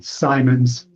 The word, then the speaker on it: Simons: Last name Simmons with an S. Simons. Simmons. How does he pronounce it? How do you pronounce your name? Simon. Simons.